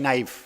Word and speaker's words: knife: उसकी शुरुआत, इसकी स्पेलिंग है KNIFE, नाइफ। नाइफ मतलब चाकू, और उसमें के पूरी तरह से साइलेंट है। उसका उच्चारण होते हैं, प्रोनाउंसिएशन होता है तो NIFE, नाइफ ऐसा होता है, जबकि के साइलेंट है।